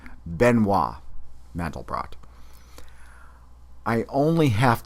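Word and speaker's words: Benoît: first to invent something benoi mandelbrot polish born mathematician well let me correct the pronunciation of his first name it's benois mandle BR I only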